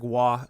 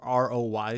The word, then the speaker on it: Roy: figh okay so Patrick W it's spelled r r o y so it looks like Patrick Roy but it's pronounced W because he's like French Canadian who is this person